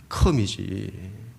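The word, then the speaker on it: come: 제가 와서 보라 할 때 캄 이렇게 했잖아요. 어떻게 캄이라 하냐? 컴이지.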